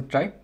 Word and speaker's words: trie: so yeah let's begin a try always pronounced a try and it is a